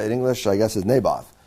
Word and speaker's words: Naboth: of naboth i think as i say in english naboth how do you say that in english i think so yeah it probably would be naboth right yes i guess nabath in hebrews navot uh in english i